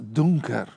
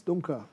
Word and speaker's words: Dunker: Christian Ingo Lenz Dunker. Esse Dunker está errada a pronúncia. Christian Ingo Lenz Dunker.